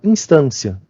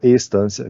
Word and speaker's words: instância: Instância, não estância, que essa matéria tem algumas palavras que são um pouco complicadas, porque a gente confunde a pronúncia com outras coisas.